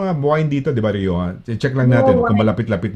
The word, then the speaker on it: Rioja: Yung wine, Rioja, diba? The British would call it Rioja. They have a different, they pronounce it parang C yung J eh.